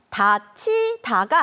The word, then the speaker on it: 닫히다: 쓸 수 있는 말이죠 그런데 바람이 불어서 문이 닫혔다 할 때는 다치다가 아니라 단희다라고 해요 지금 선생님이 글 쓸 때 어떻게 쓰는지를 말해주니까 약간 어색하죠 다 어색하지 그런데 이거 발음할 때는요 똑같이 다치다 다치다라고 합니다 헐 다치다는 문이나 서랍